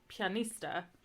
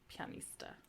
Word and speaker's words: pianista: okay and then um you have like pianista so it's an IA so it's pronounced like a y pianista consonants most consonants are